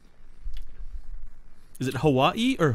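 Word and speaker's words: Hawaiʻi: says hawaii but really if there's a w within the actual name they just cut it in half you just you pronounce you pronounce w as a v exactly but but if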